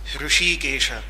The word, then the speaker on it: Rishikesh: And that is why Rishikesh, correctly pronounced as Rishikesha, has been such an important place from extremely ancient times.